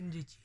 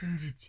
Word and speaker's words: Ịjiji: So it goes up.